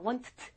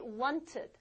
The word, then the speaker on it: wanted: 원했다, wanted 이상하죠? 예, 그렇게 하는 거 아닌 것도 아세요. 또 이런 경우 t로 끝나는 경우만 우리가 또 발음을 이유불문하고 ed 이렇게 읽어줍니다.